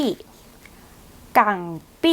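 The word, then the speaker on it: 港币: ดอลลาร สหรัฐ สกุล เงิน ถัด ไป อ่าน ว่า กั ปี้ กัง ปี้ คือ เงิน ดอลลาร์ ฮ่องกง กั ปี้ ดอลลาร์ ฮ่องกง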